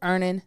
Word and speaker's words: Earnin: So an app like EarnIt is something that can really help in that situation.